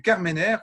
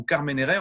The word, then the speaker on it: Carmenère: Il s'agit ici du Carmenère ou Carmenere en fonction de la prononciation.